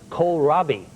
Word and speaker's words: kohlrabi: You know this vegetable, this green vegetable called kohlrabi. It's sort of like, it's a cabbage-like vegetable, and it's spelled K-O-H-L, rabi, kohlrabi.